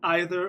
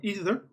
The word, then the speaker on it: either: Okay, you can pronounce it either or either.